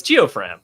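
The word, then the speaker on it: Geofram: I like Geofran. I don't know. I just saw only deception, and it's Geofran. That's how you say it.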